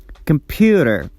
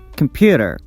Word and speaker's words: computer: solute the second example the stress goes on the second syllable so we pronounce a tensed and louder than the rest of the syllables computer pew compute computer absolute and computer so